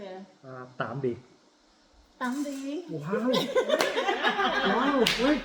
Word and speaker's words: Tạm biệt: để Hữu Thiện nói vị khách nói lời tạm biệt đến cả nhà mình nha. Can you say goodbye by Vietnamese? Yeah, how do you say it? Tạm biệt.